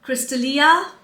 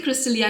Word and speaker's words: Crystallia: like this it's Crystallia no it has to be Crystallia cuz double L right Crystallia would be one L so it is Crystallia